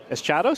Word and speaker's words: Eschatos: actually including arch nemesis eschatos is chatos how do you say that eschatos that's what I thought okay I was saying it right just making sure it's